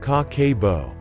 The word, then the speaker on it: Kakeibo: year old tradition of budget planning they call kikibo pronounced kakebo interpreted it means household financial ledger keep watching